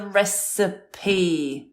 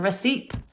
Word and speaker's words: recipe: one would have been the recipe not the recipe three syllables that's it yeah which